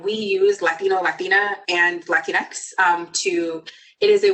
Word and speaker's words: Latinx: or Latina um saying latinx um and how you pronounce it is Latin X or something along those lines um is the appropriate way to pronounce it um it's perfectly fine